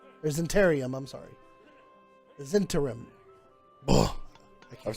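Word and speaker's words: Zhentarim: The Zentarim. Ugh. I've spelled that 4 different ways now. I know I can't pronounce it here.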